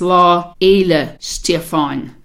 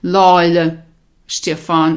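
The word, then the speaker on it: Lá Fhéile Stiofáin: to pronounce this and there's actually a slight difficulty in there because the F H is silent so what you really have is law Eila Stefan and then because you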